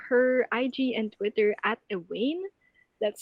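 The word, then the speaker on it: ehwaine: about attitude follow her ig and twitter at ewayne that's spelled e-h-w-a-i-n-e and if you want to hear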